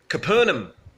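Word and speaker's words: Capernaum: was fine at home which is pronounced capernum everyone knows capernum comes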